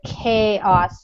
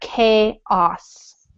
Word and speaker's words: chaos: would turn into chaos that word chaos so a lot of times the CH would be more like chip like choice or chance or chunk or something like that but in this case it's more like a case out chaos so just lots of